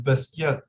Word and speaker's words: Basquiat: I think they say Basquiat. Yeah. Yeah, I think that's how they say it. Yeah, I don't know. You should say Basquiat. Oh, really? Demeure French prononciation.